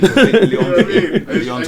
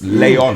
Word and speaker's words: Leon: Trust me, Leon's a hitman. In France, man. Yeah. One day here in France. Leon. Leon. Yeah, that's the proper pronunciation of it.